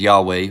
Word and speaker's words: Yahweh: so she's got that all right what she pronounces is Yahweh we can tell because over here if we